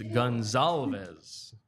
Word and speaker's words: Goncalves: Goncalves. Is it a hard C? Joey, you want to get on screen? No. It is Gonzalez. Matt Gonzalez.